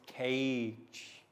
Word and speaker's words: cage: So you can see we have the first letter here is a C, but that's the normal C sound like K, not the soft C sound. But then we have G, and that is the soft G because it sounds like J.